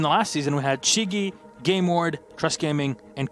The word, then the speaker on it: SYZYGY: How do you pronounce it? Shigi.